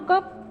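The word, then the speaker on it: قاف: Qaf di mana di situ qaf? Qaf di sini. Harus berapa harkat bacanya? 6. 6 juga kan? 6. Nah, sama qaf juga. Qaf akhirnya F ya. Ya.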